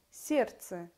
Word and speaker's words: сердце: лестница произносятся без т сердце без д чувства без в этот